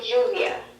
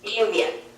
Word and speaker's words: lluvia: Here on the coast, we say lluvia, and in the Sierra, the double L at the beginning of the word is pronounced a little different. It's lluvia. Yeah, that's right.